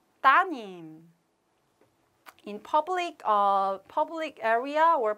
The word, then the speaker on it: 따님: But change, something has changed because we deleted 리을. So it must be here. 리을, 리을, 아들님, 딸님. But it's difficult to pronounce. So we just omit 리을. So 아드님, 따님.